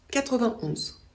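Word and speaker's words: quatre-vingt-onze: On ne prononce pas le « et » ici. On dit 81, 91.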